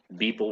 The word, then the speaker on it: Beeple: that Take Beeble perspective. guy, he that Beeble guy, whatever, the one that was on Joe Rogan's podcast. Yeah, Yeah, Beeble. Did I pronounce it right? Beeble? Beeple with a P, like Yeah.